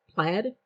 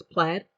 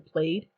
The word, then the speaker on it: Plaid: the business name is plaid pronounced like the I guess fabric design so it's plaid I kind of like calling them played but um if it's